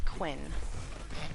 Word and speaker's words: Quinn: It's Quinn. I said Corn.